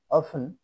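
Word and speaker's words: often: N listen না ও এফ টি ই এন অফেন প্রায় এস ও এফ টি ই এন সফেন নরম করা ইউ সাইলেন্ট পাইবে অর্থাৎ জি ইউ এ আর ডি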